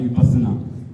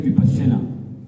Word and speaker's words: विपश्यना: है विसना विपश्यना में आजकल इंग्लिश में तो स्पेलिंग इसके बना दिए विसना वी आई प A double S ए एन पर ये है विपश्यना इसमें उपसर्ग लगा है